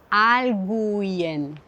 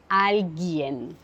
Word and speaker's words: alguien: Aussi dans le mot alguien, je ne prononce pas le U. Je ne dis pas alguien. Je dis alguien.